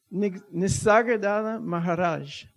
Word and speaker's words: Nisargadatta Maharaj: Nisargadatta Maharaj.